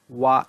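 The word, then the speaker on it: は: হচ্ছে, সেই ক্ষেত্রে এই ওয়া ইকেমাসেন অংশটা বসানো হবে ভার্ব তে ফর্মের সাথে। সো এখানে ভার্ব তে ফর্ম পরে হা যেটা লেখা আছে, হাটা পার্টিকেল হিসেবে ওয়া উচ্চারণ হবে।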